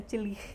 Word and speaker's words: Tillich: Acho que a pronúncia é Tillich, né, no alemão.